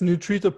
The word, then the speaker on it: Nutrita: program it's called nutrita how you say it right yeah it's neutrito pro is the app and nutrita is our company okay so do you